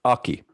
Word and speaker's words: Aki: what do you um sorry if i've been mispronouncing your name is is it okay it's aki aki okay um i mean could you give